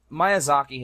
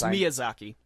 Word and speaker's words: Miyazaki: anyway back to Princess Mononoke okay basically uh Maya Zaki had just talked about this in another show